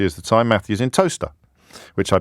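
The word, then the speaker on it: Towcester: Matthew's in Toaster, which I pronounced correctly.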